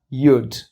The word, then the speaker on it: you'd: We put the subject and had together, and then it becomes you apostrophe D, and you pronounce it as you'd.